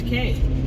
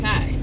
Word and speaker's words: K: It is I, K, pronounced K, not Kai. For those of you that may be new, those of you that may just ain't got it yet, it's K, K, like the letter.